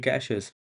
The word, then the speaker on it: cache: Those are called caches. It's spelled CACHE and it is said like cache.